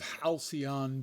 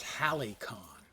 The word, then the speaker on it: halcyon: A leftover from those halcyon days of Diablo. I actually heard a man pronounce halcyon as Halicon. Getting not just the pronunciation wrong, but the actual spelling of the word.